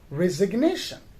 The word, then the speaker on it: resignation: but when we say resignation right the word resignation so then we do pronounce the letter g in resignation r e s i